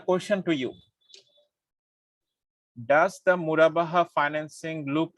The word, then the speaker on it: Murabaha: I am pronouncing Murabaha rightly, or I am pronouncing Mudaraba? No, sir, it's okay. Murabaha.